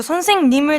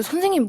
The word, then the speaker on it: 선생님: 일단 이응 들어가면 외국에는 다 어렵기 때문에 받침이 다 받침이 있고 그래 전 처음에 선생님 다 니은으로 선생님 선생님귀 그런 식으로 하다가 아마 외국인들이 80% 정도 처음에 한국말 배울 때 똑같이 발음할 거예요.